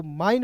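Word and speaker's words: mine: तो देखिएगा एम का होता है म और इसका उच्चारण आइन के रूप में करेंगे। आई एन ई का उच्चारण आइन के रूप में। तो एम आई एन ई को माइन पढ़ेंगे।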